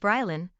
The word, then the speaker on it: Baraline: Baraline, 4F, pronounced Bryalyn, Falcon, 3M, pronounced Falcon, Rorai, 3F, pronounced Rory, and Kelvin, 1M, pronounced Calvin.